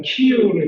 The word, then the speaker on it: 키이우: 특히나 이제 수도 키우이, 그러니까 키예프, 러시아 말로는 키예프고 요즘은 또 방송에서 우크라이나 말로 키이우를 이렇게 발음하는데 금방 점령될 것으로 예상했지만 결과는 뜻밖이었습니다.